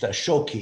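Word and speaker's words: Shōki: japanese versions of uh zhongguo pronounced shoki in japanese and shoki or zhongguo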